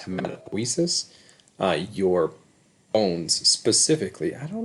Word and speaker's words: hematopoiesis: This one is amazing if you want to try to pronounce that without me saying it, but it's actually pronounced hematopoiesis.